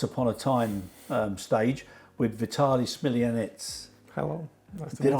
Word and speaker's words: Vitaly Smilianets: so the once upon a time stage with Vitaly Smilianets. Hello, nice to Did meet I you.